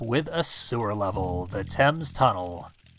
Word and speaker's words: Thames: a sewer level, the Thames Tunnel. That's how that word is pronounced, by the way. British pronunciation can be odd sometimes.